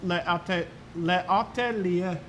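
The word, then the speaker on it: L'Atelier: by the way, I believe it is actually pronounced Le Atelier. The atelier. You don't say ER. It's like it's like an umlaut.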